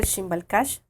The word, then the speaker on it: X'iimbal: página de Facebook, es tal cual, Shimbal Cash. Estamos así. ¿Cómo se escribe Shimbal Cash?